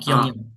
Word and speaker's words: 경영: 마af, Kyongyong, Sam. Ulang. Kyongyong, 어, Kyongyong.